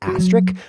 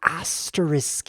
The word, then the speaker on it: asterisk: Have you ever noticed people saying asterisk? Well, I do, and it annoys the asterisk out of me because it's pronounced asterisk. If you ever look at the word, you'll see it's full of S's because there's S's everywhere. Asterisk.